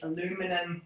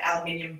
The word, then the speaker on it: aluminium: You could also get foil ones or aluminum ones. I'm trying to say it like my American friends do. We say aluminium here in Australia. Sounds quite different.